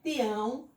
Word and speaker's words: tião: Mas nesse caso de tião, o som nasal é no A.